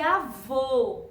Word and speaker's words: avô: eu já expliquei aqui com a palavrinha avó é isso avó que o sonzinho é aberto e avô com sozinho mas para baixo então é o acento circunflexo porque o sonzinho dele é fechado Tá bem então lembra